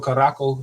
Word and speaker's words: Curaçao: If you ever heard of that, Curacao or Caraco is how some people would pronounce it.